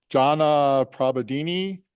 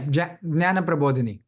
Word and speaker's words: Jnana Prabodhini: Chowkase is also the co-founder, and I don't know if I can't pronounce this correctly. You have to help me, Aakash. Jana Prabodini. Did I really butcher that? No, yeah, Jnana Prabodhini.